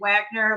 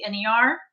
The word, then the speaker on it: Wagner: Everybody always spells my name wrong, but it's with one L, A, and then Wagner, like the composer, Wagner.